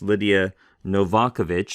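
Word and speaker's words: Lidija Novakovic: helpful little baylor handbook on the greek text lydia novakovich someone told me that's the way to pronounce her name i've been mispronouncing it but lydia novakovich in her baylor handbook says this is a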